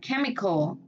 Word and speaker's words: chemical: Vậy CH này nó sẽ đọc là K. Ở giữa score cũng đọc là K. Và chemical. Giờ này mà còn ai mà đọc là chemical là có lại nha. Chemical. Chemical. Yeah. Âm K.